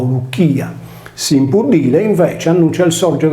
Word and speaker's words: Licia: il nome alla Lucia tale cronimo non si legge Liccia come pronunciato in italiano o in latino ecclesiastico ma luia nella guerra persiana condotta